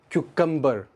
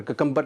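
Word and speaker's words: cucumber: Next word, क्यूकम्बर, खीरा, क्यूकम्बर, ककम्बर नहीं है, बहुत मिसप्रोनाउंस होता वर्ड ये, क्यूकम्बर।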